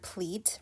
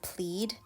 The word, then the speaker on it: pleat: Oh my god, I've actually been pronouncing the word pleat wrong throughout the whole entire video. I was pronouncing it as plead.